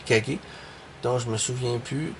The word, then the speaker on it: Kage: Il y a beaucoup de personnes qui prononcent The Legend of Cage parce que c'est marqué Kag mais en réalité le vrai titre c'est The Legend of Kage.